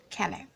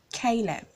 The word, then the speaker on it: Caleb: is called Caleb Caleb a lot of persons were called his name kill him no he has a sound so it's Caleb Caleb very good manic person